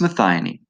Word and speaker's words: methionine: us to methi methionine methionine I always say that wrong it's Matheny so we can just use